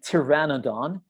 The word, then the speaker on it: pteranodon: the same the pteranodon silent p we do not pronounce p we say pteranodon was soaring through the